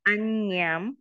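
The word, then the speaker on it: añña: Nati me sarana anyam. Remember this N with the tar. How you call it tar? I think they call it Tidla, right? The top. Anyway, you pronounce it nya. So anya.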